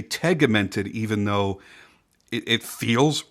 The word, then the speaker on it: tegimented: of different ways, both tegmented and tegimented, my research points to tegmented being correct, as this is the way that the workers at the Sinn headquarters pronounce it in interviews that I've watched.